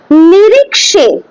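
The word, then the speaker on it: নিরীক্ষে: নিরিক্ষে, খ হয় না, নিরিক্ষে, ঠিক আছে, মানে এন আই আর আই কে এস ই, নিরিক্ষে, নিরিক্ষে, খে হবে না, নিরিক্ষে হয় না, হ্যাঁ, নিরিক্ষে, এটাই হচ্ছে কি উচ্চারণ, আসল উচ্চারণ সংস্কৃতে।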